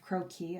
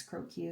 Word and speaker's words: croquis: And if we measure this out, it's usually called a 10 head croquis. I guess croquis is the right way to say it.